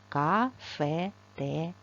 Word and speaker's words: кафетерій: кафетерій заклад громадського харчування поставте наголос під ресліть букву а не кофе а кафетерій чому громадського харчування бо